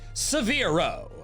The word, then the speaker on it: Seveero: I'd call it Seveero. I needed something that could rhyme with Spearow and Fearow, and severe worked quite nicely.